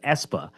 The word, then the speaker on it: ESPA: There's also exciting things going on at ESPA.